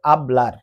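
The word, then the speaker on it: hablar: এটা কিন্তু হাবলার হবে না। কারণ আমরা জানি স্পেনিশ ভাষায় এইচ এর কোন উচ্চারণ হয় না। এ কারণে এটা হবে আবলার।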